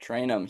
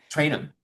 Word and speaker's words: Trayanum: Ohio State, is from Toledo now, Chip Tray- Trayanum. Yep, Traynum. He Traynum.